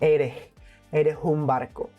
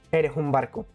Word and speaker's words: eres un barco: Eres un barco. By melting the E with the U and pronouncing the S as an H. Eres un barco.